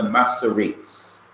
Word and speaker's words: Masoretes: They were known as the Masoretes, M-A-S-S-O-R-E-T-E-S.